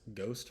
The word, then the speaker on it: ghost: the next example is Ghost where it's a silent h and a hard G ghost there's a few